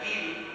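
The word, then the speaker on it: גיל: Fíjense que la palabra hebrea que se traduce como alégrate es la palabra gil, así se pronunciaría gil, y literalmente esa palabra quiere decir girar alrededor, es decir, dar vueltas alrededor bajo la influencia de una emoción.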